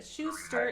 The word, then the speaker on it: Schauster: But Schauster is how we pronounce Heidi's last name.